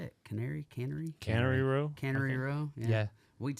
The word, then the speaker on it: Cannery Row: Cannery Row. Cannery Row. Yeah. We'd say Canary over in Caneyville, Kentucky.